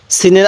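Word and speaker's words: سين: বলা হয় তাহলে সিন সিনের আওয়াজটা একটু চিকন করে শক্ত করে উচ্চারণ করব সিন এরপরে সিন এই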